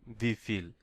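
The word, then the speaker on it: wie viel: ভি ফিল, ভি ফিল, হাউ, হাউ মানে আমরা পড়েছি ভি, তাহলে ভি ফিল। এখানে আবার দেখেন এই যে এ ভি, এখানে আবার এই ভি এর উচ্চারণ হবে এফ।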